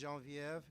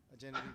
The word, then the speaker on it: Genevieve: We have another presenter, another grantee, and the French study in me would pronounce it as Genevieve Grabman, but I think Americans would call it Genevieve, Genevieve Grabman. As you like, either way.